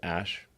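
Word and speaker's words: Æ: Um, and then the AE is like pronounced ash.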